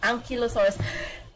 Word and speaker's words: Ankylosaurus: I don't know which which is the proper pronunciation oh the first one ankylosaurus yes sir I'm correct let's go I